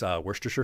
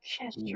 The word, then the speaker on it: Worcestershire: I like to use Worcestershire sauce. He said it right. He Worcestershire said, sauce. Yeah, he said it right. Yes, he said it right. He Chestershire.